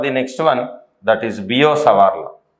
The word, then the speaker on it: Biot-Savart: next one that is bio Saar people call it as bot sa but actual pronunciation is B so these are the